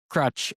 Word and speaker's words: Kroetsch: And your current Ward 2 Councillor, Kelly, is Cameron Crutch, or if I pronounce his name correctly, Crutch or Crush or Crutch, what, his Which I name, think. Crutch, okay, Crutch.